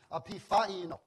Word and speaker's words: epiphaino: And I hope my pronunciation is correct. This is for your knowledge as well as mine. It is epiphaino.